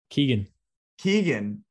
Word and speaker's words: Keoghan: How do you say his name? Keegan.